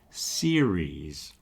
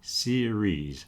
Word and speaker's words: series: You got that soft R in the middle. Don't do the hard Spanish R.